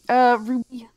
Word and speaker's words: RWBY: Ruby? It's kind of supposed to be Ruby.